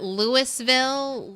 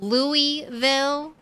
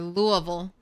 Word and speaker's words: Louisville: Is it Lewisville, Louisville, or Louisville? The one true pronunciation wrong it's not Louis source family who are from Louisville.